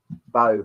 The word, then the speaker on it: Bow: Bow. Bow, is it? Okie dokies. The only reason I know that is because Bow in London. Mm-hmm. And that's how it's spelled.